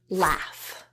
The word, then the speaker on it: laugh: have the word Dairy and an au spelling with the word laugh let's try in a